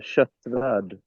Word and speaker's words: Kottvarld: I'm not even going to try to pronounce it because I'm terrible at Kottvarld. Yeah, close enough. It's Kottvarld. Yeah, not even close at all. I mean, the K is a Che, but yeah, you get Yeah, it.